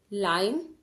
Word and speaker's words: lime: इसलिए ई का इस वर्ड में साउंड में कोई नीड नहीं है तो ई को हम भूल जाएंगे, इसको साइलेंट कर देंगे. LIME, लाइम.